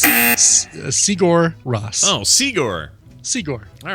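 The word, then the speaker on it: Sigur Rós: Yes. Siguros. No? You know, if there was no space and it was an American name, then I'd say yes. That's Sigur Ross.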